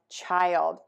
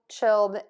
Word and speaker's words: child: The question today is, how do I pronounce the words wild, mild, and child?